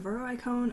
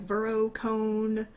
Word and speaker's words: Veroicone: that I go into when they say my name wrong um and even in raids people would be like Vero cone or Vero icone like people say the